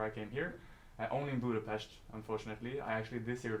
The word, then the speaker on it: Budapest: came here only in budapes unfortunately I actually this year learned that it's called Buddha PES because the S is pronounced with SH and not s um but Budapest is a very beautiful